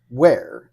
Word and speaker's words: Were: I was like, well, how do you pronounce this? Is it Were? And no, it's Chris Ware, and it's like, but you're missing the H there.